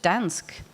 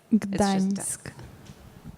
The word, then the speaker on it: Gdańsk: Is it just Dansk? Gdańsk. Right.